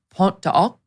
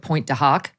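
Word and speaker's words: Pointe du Hoc: Now, we visited Pont de Hoc. That's how you're supposed to pronounce it. It looks like Point de Hoc, Pont de Hoc, and Omaha Beach.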